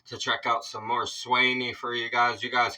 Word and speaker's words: Swanee: the live chat so now we know it is swy is the proper way to pronounce this I appreciate all